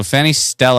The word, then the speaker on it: Fannystelle: So, Fannystelle pronounced tell, not ella.